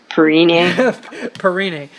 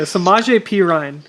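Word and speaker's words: Samaje Perine: Perrini. Okay, well, Perini. Okay, sorry. I know I slaughtered it. Samaje. Okay. Yeah, Samaje Pirine.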